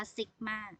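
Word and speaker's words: sigma: นะ คะ ตัว นี้ ตัว นี้ คล้าย ๆ เลข 6 เนี่ย นะ คะ อ่าน ว่า ซิก มาก นะ คะ ซิกม่า จะ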